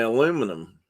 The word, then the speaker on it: aluminum: people say it and the brits say aluminium and we say aluminum carol said the birds are